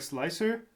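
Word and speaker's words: Slic3r: Isn't it just pronounced like slicer? Uh yes, it is. But I'm so sick and tired of of having to This doesn't work.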